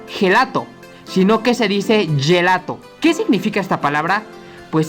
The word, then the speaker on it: gelato: vimos con góngona pero si le sigue una letra e o una I el sonido sonará como una y o y como le